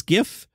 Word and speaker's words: GIF: media repost a Tunes GIF GIF I say GIF send me a letter and that's what got the juices flowing you GIF people are insane it's a hard G look at the word Robert Smigel recently said